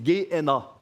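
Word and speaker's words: Γέεννα: En grec, ça se dit, on ne prononce pas le B, c'est Gé-Héna.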